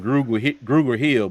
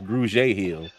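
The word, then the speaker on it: Grugier-Hill: this man's name wrong I've been saying Google Hill but I guess it's Grudge Hill I've always heard him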